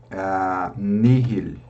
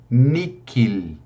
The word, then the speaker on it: nihil: Essas duas palavras eu posso pronunciar com o H aspirado, mihi ou nihil, nada, nihil. Nihil constat, nada consta. Veja, ou se não, eu posso pronunciar com o som do K, miki ou nikil, tá certo?